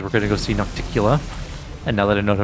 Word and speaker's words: Nocticula: our group because we're going to go see naktikila and now that i know pronounced her name i'm pretty happy about that